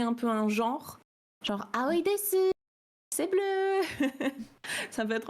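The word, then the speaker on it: です: Ouais, parce que en fait en japonais, quand tu as un su à la fin d'un mot, on va très rarement le prononcer vraiment su. On va plutôt faire comme s'il y avait deux S à la place, donc des. Après, il y a quand même des japonais qui le prononcent desu, soit parce qu'ils ont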